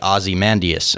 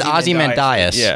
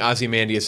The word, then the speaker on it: Ozymandias: life you sit on the front I said awesome and Dyess Ozzy man set it right the second time yeah now I'm in my own head about it yeah we're gonna be saying Ozymandias a Nigerian fight you know we're not gonna